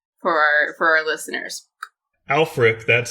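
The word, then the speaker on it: Ælfric: who alfred is for our for our listeners alfric that's spelled ash lfric is was a preacher in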